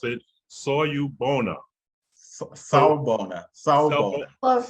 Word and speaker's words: Sawubona: Okay, so the name is Sawubona, and it is a Zulu word, usually used in greeting when Zulus, or folks from South Africa, meet each other.